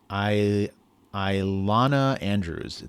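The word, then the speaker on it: Ilona Andrews: So I don't know how to pronounce their name. It's like Iona. It's Ilana Andrews.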